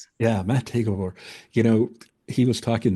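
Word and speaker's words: Maté Gábor: Gabbor Matt Mate Mate Gabbor. Yes. Yeah. Mate Gavore.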